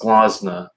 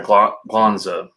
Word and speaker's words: Glansa: Trying to think, the Skyrim, and this one is I believe it's pronounced Glansa. I'm sorry, Glanza. Glanza, I think that's how you say it.